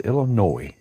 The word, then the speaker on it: Illinois: No S, Illinois. I guess us Southern folks use the S. But now that I know the proper way to say it, I'll start saying it the way it's supposed to be said. With no S.